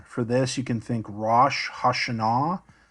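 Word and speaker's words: ראש השנה: For this, you can think Rosh Hashanah. Modern Hebrew says Rosh Hashanah. But again, biblical Hebrew accented the final syllable.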